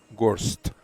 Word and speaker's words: Gorst: How do you pronounce Mr. Gorst's name? Gorst.